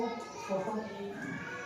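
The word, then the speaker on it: photo: फ है ये, ओ फो टी कट्टा, ओ फोटो, क्या?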